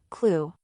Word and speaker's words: KLEW: KLEW, which can be pronounced as the word, clue.